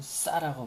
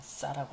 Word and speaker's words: 싸: 어떤 사람은 사라는 발음도 하는데 저는 싸라고 발음할 겁니다. 싸. 뭐 사라고 하든지 말든지 저는 그냥 싸라고 할 테니까요.